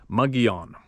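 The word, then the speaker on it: Mogollon: and Bigfoot SL mogal long monster pronounced mugon Kevin said if you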